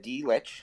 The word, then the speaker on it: Dlich: just as you said d which as if you'd say the letter D followed by the word witch which sounds like no